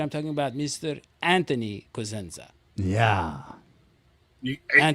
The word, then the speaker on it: Cosenza: Anthony Cosenza. Yeah. You pronounced the last name right.